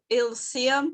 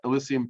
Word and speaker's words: Elysium: uh i can't i don't know how to pronounce this word but i'm going to try er ilseum team it's e e-l-y-s-i-u-m um say that again a-l-y e a-l-e yeah